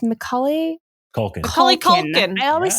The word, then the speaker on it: Macaulay Culkin: they i can never say his name it's macaulay culkin holly culkin i always say culklin called once we're introduced to him they the